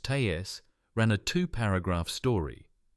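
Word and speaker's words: TASS: The official news agency, TAS, pronounced TAS, ran a two paragraph story.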